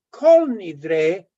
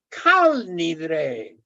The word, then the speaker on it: Kol Nidre: Por ejemplo, no es kol nidre, es kal nidre. Es arameo, pero todos dicen kol nidre.